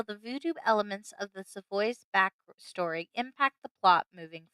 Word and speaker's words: Savoys: It definitely plays very much into the motivations of the Savoys, or Savoys, if we want to pronounce it the non-anglicized way, which is the correct way.